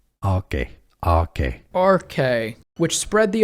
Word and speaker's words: Arche: It comes from Greek, meaning beginning. Beginning in Greek, it's pronounced Arche.